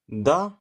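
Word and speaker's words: the: इसका टाइटल है द एिफेंट।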